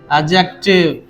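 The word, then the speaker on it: adjective: उसके बाद एडवर्ब फिर एडजेक्टिव क्या है? अब देखो इसमें डी हम लोग नहीं बोल रहे हैं। एडजेक्ट बोल रहा है। एडजेक्टिव क्या बोल रहा है? डी साइलेंट हो गया।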